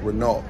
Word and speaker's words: Renault: It's spelled Renault in America, but over here, the T is silent, so it's just Renault.